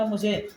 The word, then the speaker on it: hymn: देखिए आगे, the firm the firm हाइम, the firm, इसको हिमेन जगह लिखा ना HYMN, इसको हिम बोलते हैं, वाई साइलेंट है।